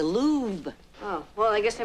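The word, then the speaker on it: Louvre: them in the hallway not the louver hello that's pronounced the lube oh well I guess I miss about the wrong in my history book your mr.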